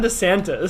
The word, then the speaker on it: DeSantis: It's Ron DeSantis.